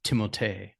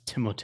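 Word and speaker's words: Timothée: found out the actual the correct way to pronounce his name is timot it's timot it's French timot but he he usually lets people call him Timothy anyway because he's like eh it's not worth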